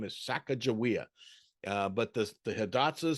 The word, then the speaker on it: Sacagawea: maybe it was Sacagawea if you go down to the Shoshone tribe to this day they will say her name is Sacagawea I've Got Friends and